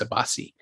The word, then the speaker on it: Abbasi: yeah and I realize I mispronounced the director's name earlier it's not a boss it's a Basi and and the work